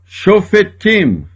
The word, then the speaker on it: Shofetim: Toda vez que o Shevá estiver depois de uma vogal longa, é pronunciado. Shomerim. A outra palavra também, olha, Shofetim, que é juízes. Aqui eu tenho uma vogal longa, por isto este Shevá aqui é pronunciado.